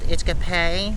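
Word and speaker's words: Itch-Kep-Pe: This campground is actually called Itchkape. I believe is how it's pronounced.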